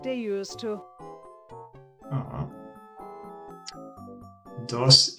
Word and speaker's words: dos: Dos in Spanish is pronounced like dos.